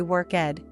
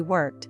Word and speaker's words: worked: Sometimes he'd say worked, WKD, with 2 syllables when it should just be worked, WKT.